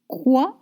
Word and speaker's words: quoi: And you don't pronounce consonant at the end of French words. Quand. Quand. And remember, it means when. Quoi.